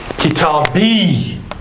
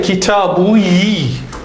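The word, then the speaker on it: كتابي: We can't say kitabui. That dhamma becomes a kasra. Kitabi. Because the rules of pronunciation of Arabic render that fatha or change that fatha into kasra. Right? So it becomes kitabi.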